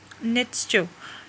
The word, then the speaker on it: Nietzsche: आगे जी आ जाता है नीत्शे। तो यानी इसकी भी प्रोनाउंसिएशन मैंने निकाली, तो इसको आप ऐसे दो वर्ड्स में डिवाइड करके पढ़ोगे, नीड्स यानी NEEDS नीड्स CHU नीड्स, क्योंकि ये जो हैं